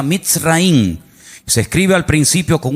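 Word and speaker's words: מצרים: país de Egipto, que en la Biblia se pronuncia mitraín.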